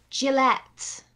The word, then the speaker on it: Gillette: française disney un troisième gillett jellett les rasoirs gillette ouais ça à peu près la même chose sauf que le la première syllabe on la prononce différemment gillett et vous dit est